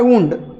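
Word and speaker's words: wind: आता जो विंड आणि वाइंड हा एक पेअर बघा, इथे याचा उच्चार करायचा विंड.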